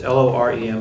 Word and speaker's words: Loren: It's Loren, but my understanding is it's pronounced Loren.